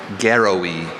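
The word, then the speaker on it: garawi: Garrowy.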